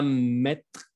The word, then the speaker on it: mettre: Je n'ai rien à mettre. Como cuando lo pronuncio casi desaparece la E.